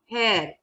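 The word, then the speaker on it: heir: And H-E-I-R, hair, E is there.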